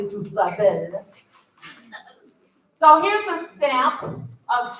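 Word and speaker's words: DuSable: I know a lot of you pronounce it Dusabo. It's actually Dusabel.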